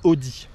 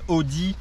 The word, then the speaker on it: Otey: s'agit du oté Christmas il me semble qu'il faut prononcer Audi Audi chrisman qui sont des Potter